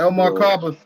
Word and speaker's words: El Markaba: El Markaba is what's in the Bible. It talks about Ezekiel's will. Of course, my name is Mark. It's El Markaba, rhymes with Majako Saba.